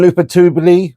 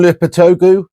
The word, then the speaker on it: Lopetegui: To 9th position, and I think West Ham, Julian Lopetegui. No, that's not how you say it. Julian Lopetegui.